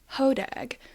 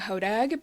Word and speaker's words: Hodag: And that is, I mean, genuinely, it's pronounced HOD here. Um, I will be saying HODAG because I am on